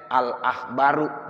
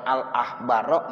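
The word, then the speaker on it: الأخبارُ: Makanya dibacanya al-akhbaru, enggak boleh al-akhbaro, enggak boleh al-akhbari.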